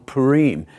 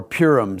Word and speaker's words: Purim: But we're going to divert a little bit today, and we're going to do a session on Purim, or Purim, some people pronounce.